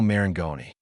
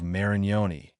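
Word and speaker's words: Marengoni: Tulio Maranggoni. Remember that name, folks. And forget the common mistake of Marioni.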